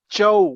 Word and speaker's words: Zhou: Chow with an accent on the O was the nickname of